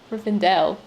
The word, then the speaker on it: Rivendell: and I still said it's not red and ale it's Reverend Dale Rivendell I can't for a long time I was saying Riverdale I'm saying remember every day it's not Rivendell as its revenue day